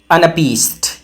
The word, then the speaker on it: anapest: अमफीबक अमफीबक अगला है अनपीस्ट इसमें पहला वाला अनिष्ट होता है फिर एक अनष्ट स्ट्रेष् मतलब दो अनस्ट्रेस्ड होते हैं और फिर एक स्ट्रेस्ड होता है। तो आपको कैसे पढ़ना है? अ न पीस्ट अ न पीस्ट।